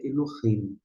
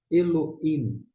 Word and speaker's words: Elohim: Tem pessoas que pronunciam o esse re, outras não. Se uma fala Eloim e outra fala Elohim, não se apegue ao fato de qual a pronúncia está correta, qual é mais exata.